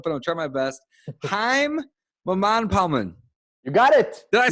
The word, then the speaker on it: Haim Mamane: Haim Mamane.